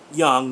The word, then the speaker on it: Jung: layman's understanding of young by the way that's how we in america pronounce it uh to the skeptic i'm not sure you know uh if other countries pronounce it differently i've always heard it pronounced young not jung but you know maybe